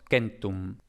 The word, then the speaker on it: centum: Aquí tenemos que en latín, precisamente lo que habíamos dicho, se ha producido una vocal de apoyo entre la K y la M, porque era lógicamente muy difícil pronunciar Kmtom, ¿no? Muy difícil. Entonces, aquí entre la K y la M se ha metido una vocal, la E concretamente, y por eso tenemos Kentum.